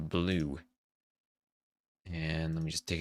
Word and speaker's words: BLVE: And BLVE, pronounced blue.